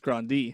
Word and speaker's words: Grande: Grande Ariana Grande but it's supposed to be pronounced Grande okay yeah that's what I thought I've heard